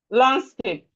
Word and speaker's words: landscape: Landscape. Handwriting. Landlord. So the D here is silent.